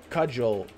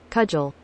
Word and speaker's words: cudgel: Cudgel pronunciation. Alright, here, let's listen. Ready? Everybody listen up. Cudgel.